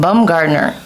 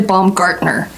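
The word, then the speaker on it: Baumgartner: a second pardon me bomb gardener actually baum gartner gartner partner sounds german make it sound angry dry but angry yeah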